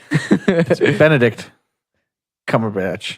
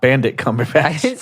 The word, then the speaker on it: Cumberbatch: you did not actually okay Benedict Cumberbatch not bandit coming facts a bandit that's a